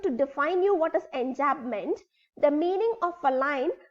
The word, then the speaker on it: enjambment: In the same manner, the poetical device which you are going to know today is enjambment. Come on, pronounce with it.